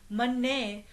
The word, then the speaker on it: manne: The difference is manna with a letter called dolam, which is like an a sound. This word here means by placing faith in the Naam. Manne with a long a sound or a lam meant